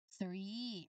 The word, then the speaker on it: three: That is three. Again three. Now pronunciation for the number three. It is uh absolutely critical that you correctly execute the challenging th sound here.